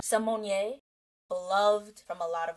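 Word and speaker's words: Symoné: on my FY Raven Simone my name is pronounced Raven Simon Simone beloved from a lot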